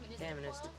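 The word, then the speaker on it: Kaministiquia: Camista. Kinister properly say chemista. Most people call, but the way it's pronounced is the indigenous way of saying.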